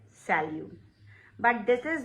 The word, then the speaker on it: salut: T is silent here, salut.